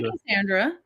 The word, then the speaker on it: Cassandra: um so how do you how do you pronounce your name I say Cassandra you do say Cassandra okay and then I